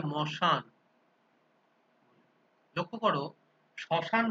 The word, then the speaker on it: শ্মশান: এবারে আদিতে, আদি ব্যঞ্জন ধ্বনি লোপ খুব একটা পাওয়া যায় না, তবে ওই যেটা থাকে যে শ্মশান, এটাকে উচ্চারণ করা হয় মশান।